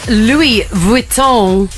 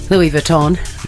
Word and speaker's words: Louis Vuitton: show Chrissy's clickbait yes Lou vuon that's how you say it if you're yourself Louis vuon vuon Louis Vuitton Louis Vuitton I love when um